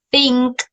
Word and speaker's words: think: cuándo es el otro, cuando decimos think, nosotros notamos que hay un poquito, que el aire se escapa, por decirlo así, cuando pronunciamos el sonido.